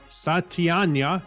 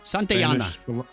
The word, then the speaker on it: Santayana: 216 years ago today and george and george satyanya santayana santiana excuse me i threw an extra syllable in there spanish philosopher novelist and poet